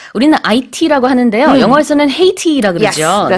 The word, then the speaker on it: Haiti: 영어에서는 Haiti라 그러죠. Yes, that's 네, right. H 발음을 해주고요. 그다음에 가운데 모음도 우리랑 좀 발음을 다르게 합니다.